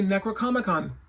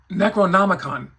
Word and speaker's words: Necronomicon: The one thing that he did not come with, which I thought it would, would be the Necro ComicCon. Did I say that right? Necronomicon.